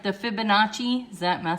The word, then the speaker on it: Fibonacci: I wish you could actually say the word, but I think it's like the Fibonacci. Am I saying it right? Fibonacci sequence?